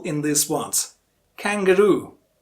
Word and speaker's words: kangaroo: syllable in this once kangaroo kangaroo which is a sassed syllable Rue yes the last syllable kangaroo and similarly which one